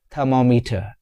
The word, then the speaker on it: thermometer: It's thermometer in British English, thermometer in American English. Thermometer in British English, thermometer in American English. Repeat after me. Thermometer. It is 4 syllable word.